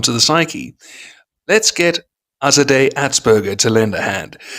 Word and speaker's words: Azadeh: It's Azadeh. Think of it like a Azadeh. Holiday. Azadeh. Yes. Forgive me for the mispronunciation.